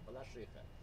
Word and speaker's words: Балашиха: До 80-х включительно называли Балашиха. Правильное было ударение, Балашиха. А с 90-х пошло Балашиха. С чем это связано?